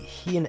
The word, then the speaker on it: Heian: is I don't want to get like the pronunciation of this wrong. It's the Heian era. I just say Heian though.